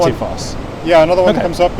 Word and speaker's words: Dettifoss: later in the word, Icelandic will always emphasize them the very first syllable. Okay. So, for example, the name of the waterfall just down the river here is Dettifoss, right? Not something like Dettifoss or Dettifoss. Dettifoss.